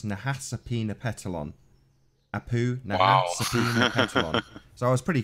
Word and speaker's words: Nahasapeemapetilon: ma p ET IL o n so it's Nahasapeemapetilon apoo so I was pretty place so how's